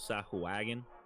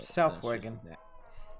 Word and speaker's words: Sahuagin: That's how I pronounce Sahwagan. It might not be correct, but it's how I pronounced it forever. For the record, Finny goes Sahuagin. but Southwagon. that's just- Southwagon, but that's his accent.